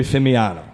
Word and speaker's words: Fimiano: And Chloe Fimiano.